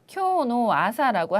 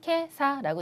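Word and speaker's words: 今朝: 그냥 여러분께서 외우셔야 되는데 사실 오늘 아침이라고 하면은 일본어를 공부하시는 분들께서 쿄노 아사라고 하시는 분들이 적지 않이 계신데요. 쿄노 아사라고는 일본어로는 거의 하지 않고요. 요거 없어지고 요거 없어지고 요렇게 두 가지만 사용을 해서 읽을 때에는 케사라고 읽는 거죠.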